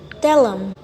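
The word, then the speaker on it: tell 'em: the last contraction is tellum which is the contraction of tell them I'm not pronouncing t in it but I'm saying tell them tell them Tommy tell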